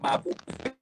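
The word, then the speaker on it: Mapou: Donc, c'est MAPU. C'est MAPU. Et nous prononcons Mabou.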